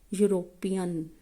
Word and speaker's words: European: European. As I have right now told you, Y or U sound is considered consonant sound.